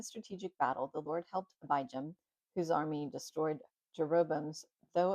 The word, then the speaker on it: Abijam: The word I didn't know how to pronounce the abi jam. It is abum.